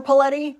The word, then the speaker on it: Petti: find me on linkon I'm petti rhymes with spaghetti or find me online